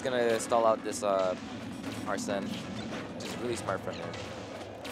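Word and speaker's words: Arsène: right now and has are sent up alright it's pronounced arson oh nice up there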